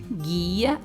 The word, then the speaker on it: guia: Guia, eu não pronuncio o U. Eu não digo guia.